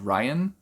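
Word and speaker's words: Ryon: help of a half-glacian called ryan it's spelt like r-y-o-n so that's why i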